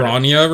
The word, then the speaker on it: Bronya: It's- You it's pronounce how I read it. Bronya right?